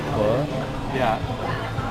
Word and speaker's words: Pho: over there right here it says ''I love Pho'' that's how it's pronounced? yea I thought it was Phough you ready to level up?